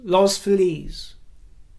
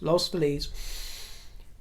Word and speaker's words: Los Feliz: lives in La well let me pronounce this right I always get it wrong loss Los Feliz yes lost fleas the one that who's